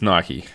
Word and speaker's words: Nike: yeah go do it Nike Americans say I hear people say Mike yeah Australia Mike but it's Nike yeah I'd say Nike